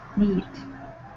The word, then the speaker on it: knead: Knead. Yes, they're very needy. Okay, notice this is knead with a K. The K is silent, like knife.